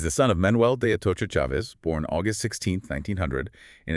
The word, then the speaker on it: Chavez: So bony f ah and chavez with a hard sh as in Charlie.